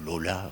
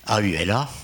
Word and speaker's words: aula: Alors le futur maître, qu'on appelle le magister aolandus, qui sera autorisé à pénétrer dans l'aula, ou Lola, enfin ça dépend comment on prononce, mais AULA, n'est-ce pas, va soumettre 4 questions à la communauté.